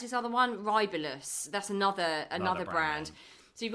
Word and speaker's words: Rybelsus: are on this Wegovy, or how do you pronounce this other one? Rybelsus.